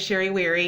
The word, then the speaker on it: Sherry Wherry: as well so again my name is sherry weary yes it rhymes yes it is my